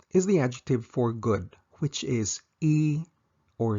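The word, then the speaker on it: いい: first is the adjective for good which is e or yo E yo note that there's only one coni spelling for both these pronunciations however the negative conjugation of both e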